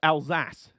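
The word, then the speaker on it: Alsace: the next one and it's pronounced alzas alas okay okay so Al SAS we're now going to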